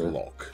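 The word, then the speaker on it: loch: So a lock, did, as in which is water exactly lock, like is something we spelled L-O-C-H, but it's still pronounced lock.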